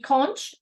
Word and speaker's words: conch: comedian dishes includes um conch pronounced con con didn't know that um in Creole sauce